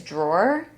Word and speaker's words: drawer: My favorite is drawer. Drawer. Because it's just draw. Yeah. Draw. Like there's Drawer. it's one syllable, but it's two, guys. It's two syllables.